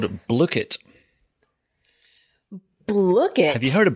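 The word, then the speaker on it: Blooket: Is that really how you say it? I think that is how you say it, because if you look on their website, rather handily, they have a little button there that says pronunciation.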